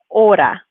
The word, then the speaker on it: hora: pronouncing them right so this is as you know the ace is a silent letter so we shouldn't pronounce it so order we use